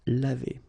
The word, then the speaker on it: lavé: So clearly, phonetically, you've got only one form, and it's lavé.